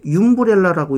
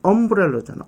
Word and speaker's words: umbrella: 자, 저거 뭐라고 읽어요? 윰브렐라라고 읽어요? 아니잖아. 엄브렐러잖아. 엄브렐러. 어 발음이에요. 삿갓 발음. 어. 윰브렐라가 아니라 엄브렐라.